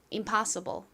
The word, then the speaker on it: impossible: 발음 따라해 보세요. 불가능한 impossible. Impossible.